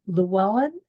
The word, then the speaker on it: Llewellyn: another my guest today is is it lellan did I pronounce it right that's exactly right yes wow